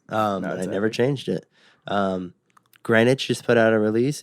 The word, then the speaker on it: Greenwitch: Greenwich just put out a release.